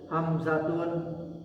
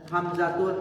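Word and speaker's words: حمزةُ: Maka tidak boleh ditanwin bacanya. Hamzatun salah. Yang benar apa? Hamzatu, Tolhatu, ya, Muawiyatu, Ikrimatu, paham ya?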